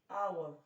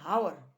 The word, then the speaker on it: hour: aries whisper for example in our don't say in hour it is our in air pronounced as